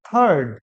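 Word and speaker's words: third: এই আড়ের উচ্চারণটা সাইলেন্ট দেখবে, থার্ড।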